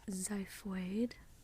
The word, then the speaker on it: xiphoid: it in English xiphoid so there's that example of the X at the beginning of a word it sounds like a z we wouldn't say like excipely that'd be kind of